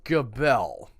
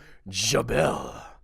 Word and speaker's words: Gabelle: And I did look up several pronunciations that had the hard G. My gut tells me that since it's French, it should be Gabelle. But I'm not French, so I went with the pronunciation guides that I looked up.